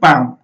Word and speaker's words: palm: A right answer clear in the word palm रे first letter is not pronounced देखो पहले pm माने कोन देखो म केन प्रोनाउंस करी पाम अगला हम केन पढे पाल्म के पढी माने पाल्म